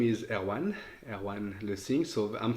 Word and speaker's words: Erwan: so my name is erwan erwan Le Singh so I'm French so the pronunciation is somewhere around or Erwin as you as you as is more comfortable for you and uh I have